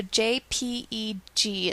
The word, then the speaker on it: JPEG: just going to change it to jpeg so jpeg is pronounced jpeg let's not do the 2001 we'll